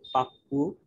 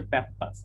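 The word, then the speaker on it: Pappus: Second হচ্ছে পাপ্পু। হ্যাঁ, নাম না পাপ্পু না, এটা নাম হচ্ছে প্যাপ্পাস আসলে। হ্যাঁ, প্যাপ্পাস থিওরেম, বাট আমরা সবাই পাপ্পু বলে আসছি।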